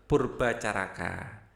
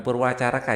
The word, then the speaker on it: Purbacaraka: MA Peloupesi, kemudian ada Purbacaraka. Bukan Purwacaraka ya, Purba. Ini tulisannya ejaan lama.